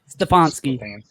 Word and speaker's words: Stefanski: Sorry, Stefanski.